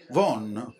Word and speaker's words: Vaughan: Domani sera sarò proprio qui nel quartiere di Vaughan, si dice Vaughan, perfetto, chiedo scusa della mia pronuncia, e so che sarete voi, gli amici